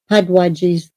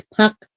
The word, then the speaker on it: puck wedgie: pronounce it right, and I was a retard and calling it pud wedgies. I would always call them puck wedgies. See, I called them pud wedgies, but Pug? it's puck wedgie.